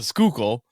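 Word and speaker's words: Schuylkill: and it took me so I think I I pronounced it when we first got here like the scalak Gana but it's like it's the skookul but there's so many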